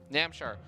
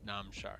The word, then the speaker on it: Namshar: A lot of people were posting in the chat about how I pronounced Namshar. So now I'm going to say num, as in num nom.